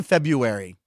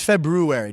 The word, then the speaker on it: February: febru see I say February but it's February did you put the r in there February yeah most people yeah